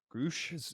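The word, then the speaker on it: Grusch: in the open um how do you say this dude's name groosh is yeah gross Crush yeah however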